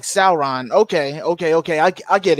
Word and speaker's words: Sauron: okay wait hold on that's the correct pronunciation of celeron as in sour oh okay sauron so like sauron okay okay okay i